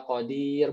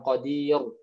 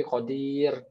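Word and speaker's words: قدير: Nah, ro-nya tuh biasa aja Qadir, bukan Qadir. Salah, ya, tapi Qadir.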